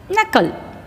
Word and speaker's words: knuckle: is a silent in this word last one knuckle knuckle in this knuckle in this word K